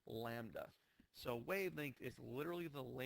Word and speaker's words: lambda: And if you remember from pre-AP, the symbol for wavelength is the Greek letter lambda, which looks like that, and it's pronounced lambda.